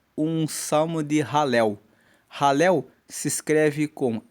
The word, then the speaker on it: Halel: É um salmo de ralel. Ralel se escreve com h a l e l e ralel significa louvor, louvor a Deus.